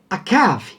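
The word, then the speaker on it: עָקַב: E aí nós vamos ver que a palavra enganar, o verbo enganar, era pronunciado da maneira akav, tá? Com a vogal A.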